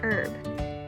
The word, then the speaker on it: herb: Another word I want to familiarize you with is herb. Herb is spelled with the silent H.